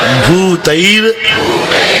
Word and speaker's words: भूतैर: भूतैर, रा का उच्चारण करना, गा के ऊपर रा है।